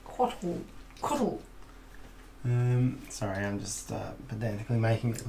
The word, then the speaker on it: Cóatl: It is actually a pronunciation guide on the rule book. It's like Cóatl.